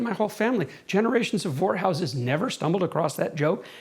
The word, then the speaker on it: Vorhaus: I'm doing stand-up comedy and and I say, "Ladies and gentlemen, my name's is Vorhaus. It rhymes with whorehouse.